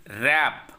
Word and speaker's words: wrap: W is silent here. Hole. Not. Hole. Hole. It is not wrap. It is wrap.